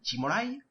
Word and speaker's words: Cimolai: On peut tout de suite enchaîner avec le deuxième sprinter que l'on va aborder, c'est Davide Cimolai, de la Lamprey. J'ai fait un mix, je l'ai prononcé à l'italienne avec un accent espagnol, c'était très bizarre, mais bon.